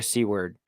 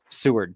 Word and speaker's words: Seward: in a gravel pit near seaward seward sorry for people who live in alaska i said it wrong twice and in 1982 the